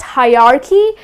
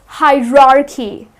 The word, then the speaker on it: hierarchy: But it's not hierarchy, it's hierarchy. Again, just the way it's spelled, that's the way it has to be pronounced, as hierarchy. People tend to mispronounce it by hierarchy, okay? People tend to pronounce it as hierarchy, but that's incorrect.